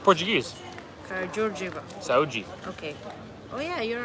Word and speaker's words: Karađorđeva: Oh, it's Karađorđeva. It's pronounced. It's written Karadordeva, but it's pronounced Karađorđeva. So D is G. No, Like Portuguese. Karađorđeva.